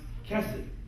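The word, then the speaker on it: חסד: This word right here Esta palavra na tela is pronounced kesed.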